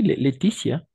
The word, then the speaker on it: Laetitia: La, ¿cómo se pronuncia ese nombre? Et oui, Laetitia, Laetitia. Ok.